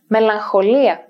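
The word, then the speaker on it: μελαγχολία: gamaksy and gamma kappa in these clusters gamma is always pronounced like an n sound otherwise the words that include them would be difficult to articulate for example alexa i checked melancholia melancholy and an excellent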